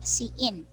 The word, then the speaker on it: cin: in c plus plus k c in pronounced c in and when given gamma